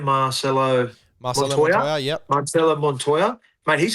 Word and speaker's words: Marcelo Montoya: Is it how do you pronounce his name? Marcelo Montoya, yep.